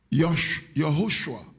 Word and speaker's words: Yehoshua: The name Joshua is in Hebrew is Yehoshua or Yeshua. Just change the J into a Y.